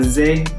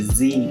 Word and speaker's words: Zé: i pronounced that right it got an accent on the e z e and i don't really know how to pronounce accents so forgive me if i pronounced it wrong but i think it's z taylor again the song was